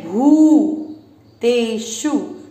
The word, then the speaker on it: भूतेषु: अधिक समय देना है, इसको पढ़ेंगे भू तेषु, मात्रा छोटी है शु की, लंबा ना खींचे, भूतेषु भूतेषु।